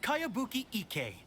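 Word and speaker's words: Kayabuki Ikkei: name who's this cowabunga it's pronounced kayabuki ek that would be me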